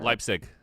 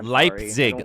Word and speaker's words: Leipzig: I can never pronounce her. Lipig Lipig. Lipig. in Germany. Leig Leig, wait, can you can you pronounce it slowly? Leipzig.